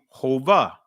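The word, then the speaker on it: הוה: Now let's see hova. Let's see what hova mean, right? And this is uh pronouncing this with a v sound, right? So this would be hova.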